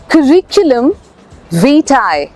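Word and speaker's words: curriculum vitae: है course of life pronunciation करिकुलम करिकुलम नहीं करिकुलम वीटाई सीवी इज करिकुलम वीटाई तीनचार बार practice करेंगे में आ जाएगा।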